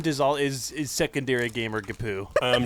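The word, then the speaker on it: GPU: the word for it it's pronounced gapu that's true do you game on man i'm like yeah if your kapoo was in an erdex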